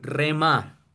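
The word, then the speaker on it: ῥῆμα: Y es esta, se pronuncia en español rema.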